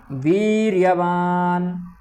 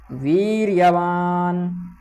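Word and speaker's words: वीर्यवान्: काश राजस वीर्य वान वीर्य वान ना थोड़ा आधा है और उस पर जोर भी देना है क्योंकि वह नासिका से निकलता है नासिका वाले जितने भी वर्ण है उन सब पर सेही करना पड़ता है विशेष से आपने लता पता मा पर थोड़ा ऐसा लगता है गूंज रहा है उसी प्रकार से वीर्य वान ठीक दृष्ट केन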